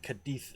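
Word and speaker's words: Cádiz: I'm going to struggle with Cadiz as well when I get to talking about that with Napoleon, because it's a Z that's pronounced with a TH.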